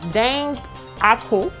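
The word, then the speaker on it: dengaku: get our salmon under the broiler um so dang aku for then goggle thing i don't know how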